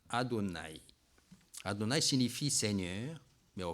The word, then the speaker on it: Adonai: Les Hébreux trouvent que ce mot est privé et sans voyelle, il est sans voyelle, donc il prononce en Adonai.